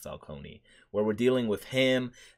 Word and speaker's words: Falcone: Or yeah, it's pronounced Falcone, where we're dealing with him, and it is all kind of under the same umbrella, and it all kind of connects.